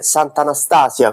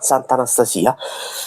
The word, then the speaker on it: Sant'Anastasia: Mi raccomando, l'accento è sulla i, non è Sant'Anastasia, come eh logica vorrebbe, come il nome eh anche di eh di persona femminile vorrebbe, ma il paese si chiama Sant'Anastasia.